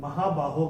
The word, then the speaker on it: महाबाहो: चरण के समाप्ति पे ये ओ का उच्चारण या फिर ओ ही रहेगा क्योंकि अगर रूल के हिसाब से हम देखें तो पहले और तीसरे चरण के समाप्ति पे वो आने पे उनका उच्चारण हम विसर्ग करते हैं मगर यह यहां पर संबोधन है तो यह संबोधन कर रहे हैं भगवान अर्जुन को महाबाहो के नाम से तो संबोधन जहां आएगा